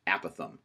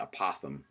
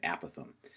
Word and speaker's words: apothem: It's pronounced apothem. You might be inclined to call it an apothem, but we'll be calling it an apothem.